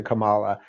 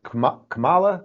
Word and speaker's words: Kamala: don't want to be i keep saying kamala but it's kamala kamala come on come so